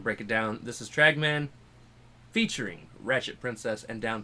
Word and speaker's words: Tragman: So it's Tragman. Tragman.